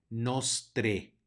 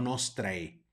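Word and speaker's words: nostrae: y bus y finalmente tenemos una ae que es un diptongo y lo vamos a pronunciar como e de manera que se dice nostre nostre no nos trae y el Amén Que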